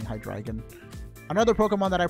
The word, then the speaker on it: Hydreigon: a Japanese name, but since I found out it was based on the 3 German numbers, I've been saying Hydreigon.